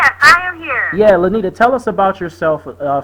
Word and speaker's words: Lynita: and her name is Miss lenita did I pronounce your name right that is correct okay how you going